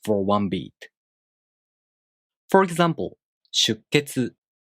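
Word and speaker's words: 出血: The sound after a small tsu is the K consonant. You hold the tongue position for the K sound without releasing it and make a pause for one beat.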